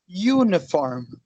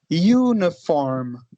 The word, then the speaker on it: uniform: A primeira eu pronuncio assim, ó. Uniform. Olha bem como fica. Uniform. Começa com um sonzinho de Y, né?